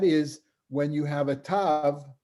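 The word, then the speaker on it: ת: you have a tav, which is the last letter which we all pronounce ta, like a T. If it has a dot in it, it's a hard T. If it doesn't have a dot inside of it, then originally it was, in Yemenites pronounce it tha, which is similar to other Semitic, like Arabic as well. There's a tha, and Ashkenazim pronounce it sa.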